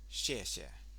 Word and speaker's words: 谢谢: 谢 is downward tone, XIE, but it's pronounced with the tongue. If you imagine your tongue is a straight line, you're going to bend it up ever so slightly at the front, which is a bit of a weird shape for Westerners.